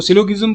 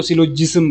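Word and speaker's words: syllogism: इसकी प्रोनाउंसिएशन करता है, कि कोई जो है वो इसको सिलोगिज्म बोलता है, कुछ कोई इसको सिलोजिज्म बोलता है।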